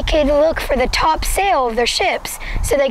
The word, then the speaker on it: Topsail: I'm talking about welcome to Topsail Island that's how the locals say it but it's actually spelled Topsail which leads to the